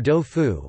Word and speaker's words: đậu phụ: con, molded bean, or do phu, one of the Vietnamese ways to pronounce the Chinese du phu.